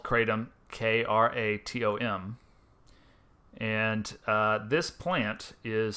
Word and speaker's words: kratom: on you called kratom or crotum i've always pronounced it crotum but they tell me that the chronic correct pronunciation is kratom uh and it's a plant that grows in